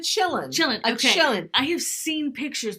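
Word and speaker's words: Qilin: is this one that starts with a q a A quillin or a chill you pronounce it a chillin chillin I have seen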